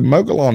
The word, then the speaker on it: Mogollon: Yeah, it's I say Mogollon. Okay. Some say Mogollon, like M-U-G. But well, I'm from Georgia. How should I do it? Mogollon? Mogollon is how I've been pronouncing it. That just feels so wrong in my mouth. It's like well, the L's, the double L is like a y.